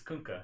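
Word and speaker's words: Kunkka: kka even though I don't say it it's kunka you know how I know because I ask kka himself how don't pronounce his name well who plays that hero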